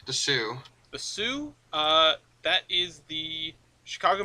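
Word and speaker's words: Sault: what is the so called the sue the Sue uh that is the Chicago Minneapolis and St Marie or something like that Saul St Marie I think yeah well it's pronounced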